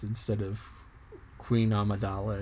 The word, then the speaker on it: Amidala: And that is in Star Wars, where when I talk about Princess Amidala, I say amygdala.